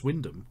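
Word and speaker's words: Wymondham: is it apparently yeah especially the way you pronounce Windam when it's clearly spelled Wyman ham we've got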